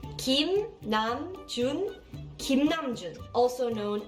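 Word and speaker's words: 김남준: video you are going to learn how to pronounce BTS members Korean names correctly then let's start the first name is Kim namjun Kim Nam Jun Kim Nam Jun Kim Nam Jun also known as RM yes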